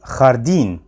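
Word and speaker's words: jardín: معلش اتعود عليه خدعه وده بيتنطق دايما بنطق حرف الخاء او صوت حرف الخاء بالظبط في اللغه العربيه مش بتغير ومش بياخد شكل تاني خطا زي كلمه خاردين خاردين يعني حديقه كا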